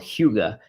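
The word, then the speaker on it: hygge: parenting um it is called hyuga h-y-g-g-e and it's really hard to pronounce it's got a long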